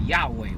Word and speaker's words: Yahweh: In English, the transliteration is Yahweh, Y-A-H-W-E-H.